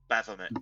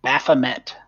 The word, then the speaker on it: Baphomet: How do you pronounce that name? Baphomet. Baphomet.